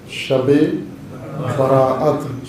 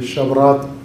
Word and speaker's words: شب براءت: ہے، لیلۃ البراءت ہے، شبرات ہم اپنے محلی مقامی لہجے میں اسے کہتے ہیں، 15 کی شب، 14